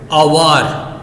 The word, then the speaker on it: hour: Okay, if they are begins with the vowel, for example HOUR, H जो है वो sound नहीं है, H इज not sound, but इफ यू are pronouncing them अवर, okay, अवर, तो अ जो है वो क्या है?